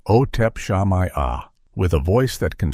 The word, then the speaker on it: Otep Shamaya: The center of this storm was the lead vocalist, Ot Shamaya, pronounced Otep Shamaya.